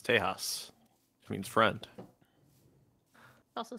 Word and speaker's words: Tejas: Well, if you go by the other pronunciation, it's Tejas, which means friend.